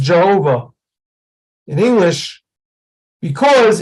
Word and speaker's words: Jehovah: have this t-shaped vowel that is why it's pronounced Jehovah in English because it's got those are the